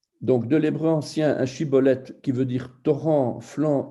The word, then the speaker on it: Shibboleth: Ils lui disaient alors, eh bien, dis Shibboleth. Et il disait Siboleth, car il ne pouvait pas bien prononcer.